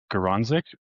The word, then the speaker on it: Garonzik: And then Garanzik.